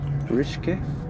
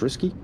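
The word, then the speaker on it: Rcischke: Rishke, or Risky, I'm going to say it as R-C-I-S-C-H-K-E. I'm going to pronounce that as Risky.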